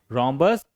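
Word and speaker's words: rhombus: देखिए र्बस आरएच है। फिर भी यहां पर हम एच को नहीं बोलेंगे। र्बस समचतुर्भुज the shape of अ र्बस looks like a diamond.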